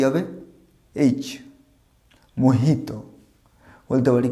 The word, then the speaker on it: Mojito: নাম কোনো মজিটো নয়, এটা আমরা ভুল উচ্চারণ করি। তোমরা দেখবে যদি কোনো জায়গায় 5 স্টার হোটেল বা কোনো জায়গায় যাও এরকম ড্রিঙ্ক অনেকে সার্ভ করা হয়, এটাকে মজিটো বলা হয় না, এর উচ্চারণটা হবে মোহিতো, যে উচ্চারণটা এইচ হবে,